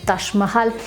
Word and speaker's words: Taj Mahal: Con J, del Taj, pero no se pronuncia ni en persa, árabe, ni en hindi, ni en urdu, Taj, sino es Taj, ¿sale? Entonces el nombre correcto, la pronunciación correcta es el Taj Mahal, que como ustedes lo